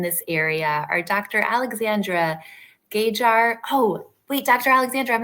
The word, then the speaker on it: Gajer: It's like higher with a G, Gajer.